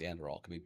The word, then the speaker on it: Anduril: So I think it's Anduril. Could be butchered in the name.